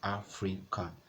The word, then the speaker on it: African: Place your hand on your chest and you pronounce African. So you have a, your heart beats back at a. Then you have free, your heart beats back. Then you have can.